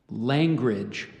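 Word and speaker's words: langrage: time I said it I think the but the correct pronunciation is language could I please have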